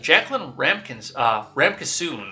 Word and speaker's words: Jacqueline Ramkissoon: From KXAN's Jacqueline Ramkissoon, that's how you pronounce that, Tesla CEO Elon Musk announced Thursday